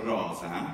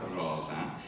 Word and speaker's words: rosa: come diciamo in italiano, rosa, più o meno, io cerco di fare questa O aperta, rosa. È aperta anche in latino, ma breve.